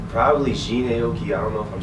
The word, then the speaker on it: Jhené Aiko: Like, probably Jhené Aiko. I don't know if I'm saying her name. Jhené Aiko.